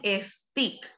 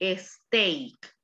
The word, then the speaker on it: steak: dar el ejemplo los alumnos siempre me dicen stick a la pronunciación correcta es éste porque esto significa rama